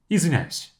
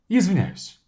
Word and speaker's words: извиняюсь: So я is not even enunciated. It's going to be like this. Извиняюсь. So it's just simply mushing the words or the syllables together to say я извиняюсь.